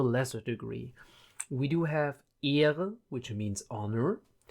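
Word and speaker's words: Ehre: ear which means honor keep in mind the e in German is is pronounced a um the H is almost um almost silent you do basically just do do you basically just take it to prolong a word often times especially if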